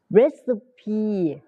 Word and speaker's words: recipe: เป็น สูตร recipe recipe recipe เป็น สูตร นะ คะ How about trying a new recipe นะ recipe C เป็น เสียง S นะ ค recipe Together เป็น